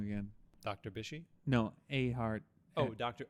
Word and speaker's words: Ehret: And it was fever, aches, pains, everything that, I'm going to pronounce his name wrong again. Dr. Bishy? No, Ahart. Oh, Dr. Ehret.